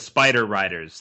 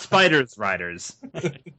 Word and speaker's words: Spider Riders: there's not there's like the title is Spider Riders there's no s after spider like you're you're throwing in an extra letter it's not like Inu Yasha where you can you can understand that mispronunciation but it's Spider Riders not spiders Riders one is a person